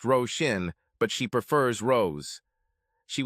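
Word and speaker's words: Róisín: "It's pronounced Roshin, but she prefers Rose.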